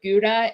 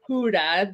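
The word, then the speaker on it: Gouda: had the they had ones with guda and or sorry Huda the the correct pronunciation of that but um those were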